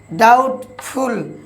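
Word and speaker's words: doubtful: ডাউটফুল।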